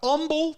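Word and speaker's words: Humble: Banks Jr out of Umble Texas they don't pronounce the h there in houon I do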